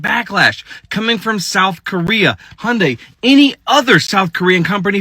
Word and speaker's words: Hyundai: Where are you getting that extra syllable from? The only people that are mad about this raid in Elabelle, Georgia at the Hyundai mega site. It's Hyundai.